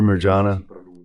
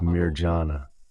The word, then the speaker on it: Mirjana: a truly special moment after Marana because that's how it's pronounced but she's known as Mir Jana she sees the Madonna